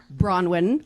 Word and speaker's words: Bronwyn: Hi, my name's Bronwin. Pronounced Brunwin.